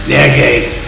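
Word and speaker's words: Nerge: His last name is spelled N-E-R-G-E. So whenever I saw his name, I was thinking Scott Energy. Of course, that's not how you say his name. That's stupid. It's German. It's Nergay. There you go.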